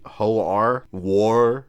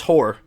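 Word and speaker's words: Hoar: sand person called h-o-a-r there's no way that's how you pronounce that it has to be ho-ar war or something like that let's see nope it's horror there is a star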